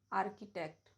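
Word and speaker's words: architect: एच is silent after C and after W. जैसे आर्किटेक्ट, orchestra, technical, chemical, character.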